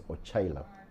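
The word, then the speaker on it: Ocailap: In my language, you don't put a H, but you pronounce as if there's a H. That's why it's Ochailap, Patrick.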